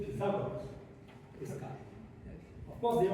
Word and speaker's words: Pythagoras: His name is not Pythagoras, English people pronounce it wrongly. His name is Pythagoras, this guy.